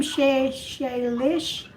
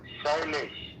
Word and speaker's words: Shailesh: Shailesh? It's a 3 syllable. Huh? Yeah, Shailesh. Shailesh. It's a 3 syllabus. Shailesh, 3 syllabus. Shailesh. Shailesh. That's only 2.